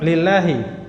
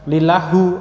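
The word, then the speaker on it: لله: Nah, lillahi kenapa bacanya di bawah lafzul jalannya itu kasroh? Karena dia tadi apa? Iya, karena huruf jar li. Jadi ini kemasukan huruf jar lam. Ya, maka jadilah lillahi. Nah, jadi bukan lillahu atau lillaha.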